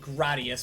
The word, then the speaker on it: Gradius: Uh, precisely pronounced Gradius.